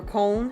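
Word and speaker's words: Köln: called herbeck Germany um near cologne or col how they say it um cuz we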